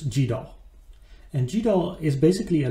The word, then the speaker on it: GDAL: but you'll also learn gdal or goodall the pronunciation depends on who you speak with i will use gdaw and gdal is basically